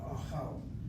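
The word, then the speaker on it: אָהַל: Same spelling of the three letters, only now spelled with a kamatz and a pata. Achal.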